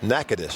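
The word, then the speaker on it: Natchitoches: success yeah sure has nakadis that's how you say it huh t-o-c-h-e-s got it by the way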